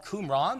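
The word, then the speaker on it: Qumran: They were discovered in a community that near a community that is now called Kuman spelled with a Q.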